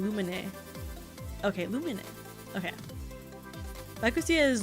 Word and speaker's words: Lumine: I would use the JP pronunciation Lumine.